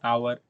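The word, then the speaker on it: hour: तो देखिए for example आप देख लीजिए एन एप्पल, एन आवर। यहां पर भी आप नोट कीजिएगा कि एच जो है यह आपका यहां पर क्या है? यह आपका यहां पर एच आपका साइलेंट है और जो उच्चारण आ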